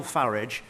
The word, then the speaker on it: Farage: of French fascists, Nigel Farage and Vladimir Putin? Well, I'm glad he takes the English pronunciation of Farage rather than the rather poncy foreign-sounding one that he seems to prefer.